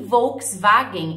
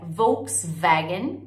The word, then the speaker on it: Volkswagen: Rover em inglês e Volkswagen em inglês você vai ouvir tanta pronúncia Volkswagen como se fosse ver duas vezes Volkswagen e também é muito